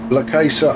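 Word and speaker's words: La Caixa: It's spelt with an X, but La Casa, I think, is how you pronounce it.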